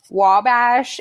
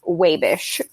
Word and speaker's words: Wabash: Also, it is not actually Wabash. If you're from Wabash, it's pronounced Wabish, but there you go.